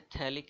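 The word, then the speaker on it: phthalic: Common name इसका होता है थैलिक एसिड, इसको थैलिक एसिड बोलते हैं, pH इसमें साइलेंट रहता है।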